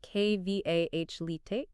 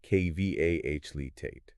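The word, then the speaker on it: Qualität: Now, how about a longer word, quality, meaning quality, pronounced K-V-A-H-Litate, with the emphasis on the final syllable? K-V-A-H-Litate.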